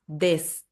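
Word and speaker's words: です: Mas desu quando tá assim, ó. Su, mas sh. Tá bom? Nesse caso aqui, por exemplo, sur não tem como cortar u não. Sur vai virar sur aí não dá. Sur. Então quando o tá junto com o S, aí sim vira mudo no final da frase, né?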